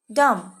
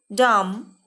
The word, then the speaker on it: dumb: ইয়াত দুটা দিয়া আছে, thumb, dumb. MBৰে শেষ হোৱা শব্দৰ বিটো silent letter, মানে বিটো মনে মনে থাকে। আমি বিটো উচ্চাৰণ নকৰাকৈ এই শব্দকেইটা ক'ব লাগিব। thumb, dumb, crumb, numb. Say again. Thumb, dumb, crumb, numb.